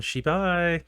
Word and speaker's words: Shibai: It's time for Shibai.